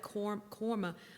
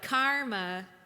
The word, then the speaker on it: karma: But she would say it like korma. Like they like round their A's way out. And I was like, Midwesterners were like karma.